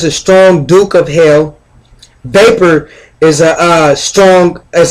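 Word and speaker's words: Vepar: a lion bolivar and vapor look like water think of the word vapor right uh vapor is like water vapor or vapor is the uh vapor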